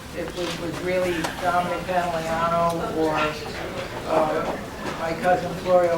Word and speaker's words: Pantoliano: how um a lot of people have difficulty pronouncing your surname Pano yep do I get it it again Pano it's Pano good now um your parents were they from